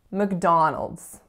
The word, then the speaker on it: McDonald's: next word is McDonald's McDonald's three syllables in this word and which one is the strongest stress McDonald's so it is of course the second the other two syllables are in fact being reduced to schwa so we're saying look look then we have dawn with our vowel oo which is that low back